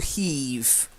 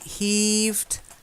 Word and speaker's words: heave: a heavy load and what you're thinking of is the verb to heave to heave okay so they heaved a heavy load try that's April day